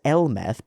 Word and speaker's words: Elmeth: There have been other new type machines related to gods as well, like Lala's Elmeth, pronounced the same as Hermes, which I should have recognized because of JoJo's, in Japanese, and Haman's Cubily, Sibel.